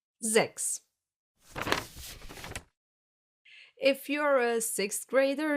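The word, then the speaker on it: sechs: Why is it not pronounced as sex? Because most of the time in the German language, an S at the beginning of a word will be pronounced like a Z.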